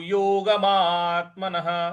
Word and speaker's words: योगात्मनः: योगिनो यता चितस्य युजतो योगात्मन देखिए विसर्ग के बाद कोई दूसरा अक्षर नहीं है इसलिए यहां पे विसर्ग को हम ह के उच्चारण में लाएंगे तो ये हो जाएगा योगिनो